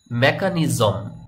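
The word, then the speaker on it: mechanism: সঠিক উচ্চারণ হবে মেশিন মেকানিজম এখানে দেখুন এই সি এইচ এর উচ্চারণ কিন্তু ক এর মত উচ্চারণ হয়েছে বা আমি করেছি মেকানিজম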